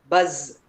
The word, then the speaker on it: buzz: Zip bus buzz eyes raise very good. So the sound of s and z we should pay attention to that when I say bus and when I say buzz ice eyes rest and raise.